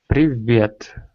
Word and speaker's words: Привет: Привет.